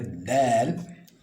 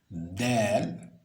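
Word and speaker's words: دال: Le dal, donc dal, observez bien comment elle s'écrit. Ensuite, le zal. Donc, dalun, zalun. Le dal, donc c'est un de, n'est-ce pas? Vous appuyez légèrement sur la partie haute. Dal.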